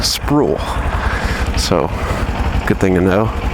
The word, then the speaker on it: Sproul: It's Sproul. It's like spool, but with an R. Sproul.